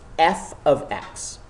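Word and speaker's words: f(x): a new symbol F bracket X close bracket pronounced f of x so f of x shows that the relation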